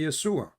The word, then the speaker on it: Yeshua: Yeshua is Yeshua. In Arabic, we say Yeshua. So we should say it in the correct way.